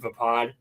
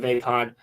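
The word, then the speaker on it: Vaapad: I pronounce it vapad. Uh some people pronounce it vapod, but the lightsaber style that Mace Wind uses, which is vapad.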